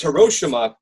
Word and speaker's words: Hiroshima: It's Hiroshima because the Japanese do not want to place any sort of value on any part of the word.